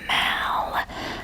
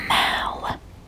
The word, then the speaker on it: Mall: to the central park mal i believe it's pronounced mal but it's spelled like mall and it's basically a